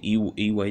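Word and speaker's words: Ewe: the the uh um i pronounced that the e way tribe all right all right the ua tribe i believe that's pronounced but it's called e-w-e i've selected uh pronounced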